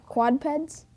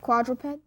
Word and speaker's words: quadruped: Quadpeds. Quadped? Not Quadruped. quadruped? Yes, that's right. We need that extra syllable in there.